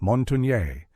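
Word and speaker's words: Montagnais: The Montinees, pronounced Monttonier, meaning mountaineers in French, were an Algangquian people of northeastern Canada who shared language and culture with the Nuscapy to their north.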